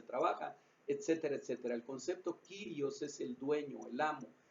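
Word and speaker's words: κύριος: español como señor es la palabra kyrios o curioso depende de cómo se pronuncie pero vamos a pronunciarnos nosotros como kyrios que es a lo mejor más porque es más fácil y dice él kyrios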